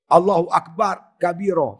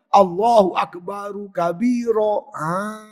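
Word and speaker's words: الله أكبر كبيرا: Roh tu doma. Baris depan. Cara bacanya, Allahu Akbaru kabira. Itu cara betul.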